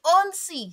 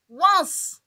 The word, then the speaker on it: once: Mais en anglais, on va pas dire on si. Si on doit se baser sur les lettres de l'alphabet en anglais, normalement la prononciation de ça devait être on si. Mais non, les Anglais disent once.